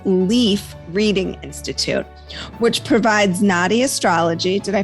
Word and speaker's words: Nadi: Q is the founder of the Indian Palm Leaf Reading Institute, which provides Nadi astrology. Did I pronounce that right? Nadi?